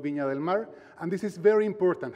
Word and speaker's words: Viña del Mar: And also important, the final R is a hard R, Viña del Mar.